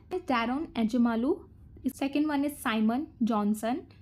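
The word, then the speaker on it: Daron Acemoğlu: तो first one इज डैरोन एजमालू, इसका pronunciation ऐसे ही है, डैरोन एजमालू।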